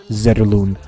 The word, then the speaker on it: Zetterlund: You usually hear it saying Fabian Zetterlund from the broadcasting crew, but he has gone on to NHL Europe's social media account and has said that he pronounced his name. They asked you how you pronounce your name, and he said Fabian Zetterlund. So that's how I'll refer to it.